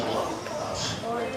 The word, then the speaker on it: Laos: That's pronounced Laos.